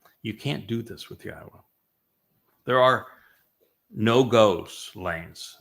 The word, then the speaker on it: Yahowah: And they changed Yahweh's name, which is clearly pronounced Yahwa based upon Torah, based upon Haya, to Yahweh. All to accommodate their desire to change God into their image, into her image.